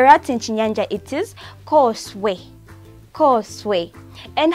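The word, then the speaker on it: khoswe: Okay, so a rat in Chinyanja, it is Koswe. Koswe. And how do we spell it?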